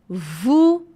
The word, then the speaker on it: vous: E vocês estão observando que o S no final não é pronunciado? Vous, français, a gente não fala o S final.